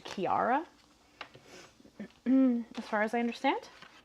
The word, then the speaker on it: Ciara: like that so I is how I go by but apparently it's actually a like European name and it's supposed to be like something more close to Kiara as far as I